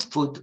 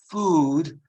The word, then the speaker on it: food: For example, when you speak of food, cibo, it's not food or mood, but it's food and mood. Very long.